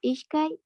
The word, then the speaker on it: ishkay: Ya, aquí recuerda que pronunciamos ishkai, ishkai, ¿ya? Con este sonido de sh, ishkai, ¿ya?